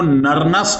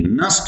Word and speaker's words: Nernst: बोलते हैं नस्ट equation इसमें एन साइलेंट है इसको नरन नहीं नट इक्वेशन कहते हैं अब इसमें एक